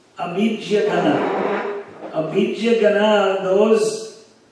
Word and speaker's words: gana: In Sanskrit, there is a long A and a short A. A. The vowels A, E, U, A, I, O, Aha. So it's not, there's no A like in English A.